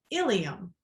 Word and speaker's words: ilium: the same page so we have examples here ilium and ilium are both pronounced ilium however notice the spelling the i and the e changes and that makes them totally different things this is why when